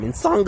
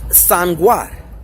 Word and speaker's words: Nsanga: Insanga is the most popular term because Europeans mispronounce that word as Sangwar. And they believe that their mispronunciation and misunderstanding of that term still validates the use of the term. No, the hell it doesn't. It's Insanga. That's like, that would be like mispronouncing Gong Fu as Slung Chu, and having mispronounced it